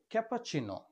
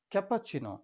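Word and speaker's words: cappuccino: এর উচ্চারণ হবে ক্যাপাচিন। ক্যাপাচিন এখানে ডাবলসের উচ্চারণ চ এর মত।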